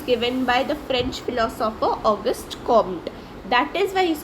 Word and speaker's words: Auguste Comte: The French philosopher Auguste Comte, we pronounce Auguste Comte, is considered to be the father of sociology.